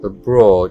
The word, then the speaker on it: abroad: Esta es la O larga, abroad. Es como una O pero alargando el sonido.